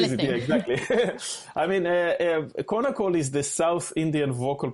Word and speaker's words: Konnakol: wrong, but you were talking about, is it Konnakol? Did I say that right? Konnakol, yes, yeah.